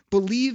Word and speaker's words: Bleav: Before I answer this good question, I'm going to tell people you can check out Believe in Lions. That's spelled BLEAV in Lions podcast.